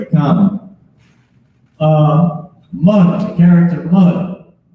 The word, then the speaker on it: man: Mun, the character mun. Not man, but mun. That's how it's pronounced. Mun. I know we see the word M-A-N, think it's man, but it's mun.